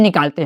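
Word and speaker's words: knock: क्या हो, MB, तो हम लोग बी का उच्चारण नहीं निकालते हैं।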